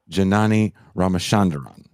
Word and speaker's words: Janani Ramachandran: She is, do you want to say her name, Pascal? Because you say it way better than me. Janani Ramachandran. That's correct.